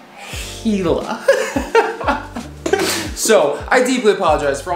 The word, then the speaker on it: Gila: armchair anglers quite perturbed gila it's not gila it's not gila it's not gila jula whatever it's pronounced hela so i deeply apologize